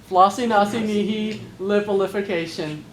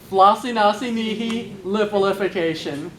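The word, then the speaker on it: floccinaucinihilipilification: So, Flossinaucinihilipilification. If you'd like, we can break it down just a little bit. Flossie, like Flossie Hines, our dear departed friend, Flossie. Naughty, as in sharing this story has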